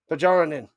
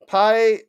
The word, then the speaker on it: Pajarin: Pajarin. Ah, it is a silent J. Pyin.